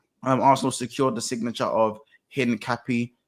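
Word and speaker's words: Hincapié: And of course, Arsenal secured the signature of Hin Cappy. Hin Capier is how you say his name as well on deadline day.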